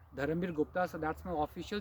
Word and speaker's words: Dharambir: Let me spell it: Dharamir Gupta, DHARAMBIR. It's not V, it's B for Bombay. Dharamir Gupta.